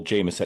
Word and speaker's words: Jamieson: Instagram at Coach Jameson. And it is not spelled like the Irish whiskey. It's J A M I E S O N.